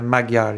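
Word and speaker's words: Magyar: the um how do you how should you pronounce uh the surname of the mother Peter Peter Maguar yeah mother Peter yes what his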